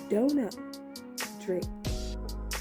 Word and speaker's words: Dona Drake: have Miss Duna Drake and yes it is pronounced Dona Drake because this diva is extra and wouldn't you